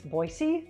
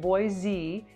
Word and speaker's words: Boise: first things first it's Boise not Boise if you pronounce it boy Z you instantly mark yourself as a non-idahoan idahoans are pretty forgiving